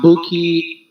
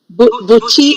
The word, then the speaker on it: Buchi: For example, is that Buki Emechita, Buchi? Buchi. Buchi Emecheta.